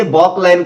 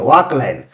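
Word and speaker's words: Balk line: घर में मिलेगा इसे बॉक लाइन कहते हैं। क्या कहते हैं? बॉक लाइन। ऐसे बॉल लिखा रहता है लेकिन यू एल जो है साइलेंट है। वाक लाइन।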